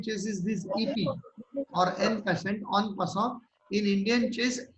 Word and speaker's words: en passant: This is the French word. Its pronunciation is little different. En passant, we pronounce it as en passant.